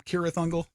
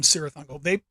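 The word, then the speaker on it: Cirith Ungol: But obviously you can call them Kirathungal. I don't mean to copy my friend Dario, but it is one of those names that people get a little picky about how you say it. But anyway, I call them Sirathungal.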